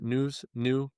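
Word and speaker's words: Nous: N O US News. Yeah, I think they say news.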